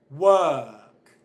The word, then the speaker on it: work: words nurse work shirt do you hear me pronouncing the R sound yes or no okay I'm not pronouncing the R sound Jenny you got an excellent okay Jenny got the points that's really good of but I'm just going to finish explaining this point I don't pronounce the R sound in any of these words why not and what I'm